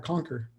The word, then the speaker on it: CNQR: So yeah, CNQR. That's for marketing, man. CNQR, Conquer.